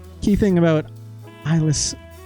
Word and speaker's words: Islay: It's not Islay. Isla, I believe is how you pronounce that, right?